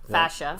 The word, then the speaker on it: fascia: with the torn plantar fasciitis, right? Okay. Fascia. Fascia. I always say it wrong. That's all right. You're used to saying fasciitis, but that means like an inflammation. Okay, yeah. Plantar fascia.